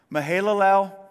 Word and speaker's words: Mahalalel: Thus, all the days of Mahalalel, that is exactly how you say it, by the way, were 895 years, and he...